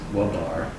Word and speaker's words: WBAR: as you've been here has it been pronounced wobar yeah okay it's funny i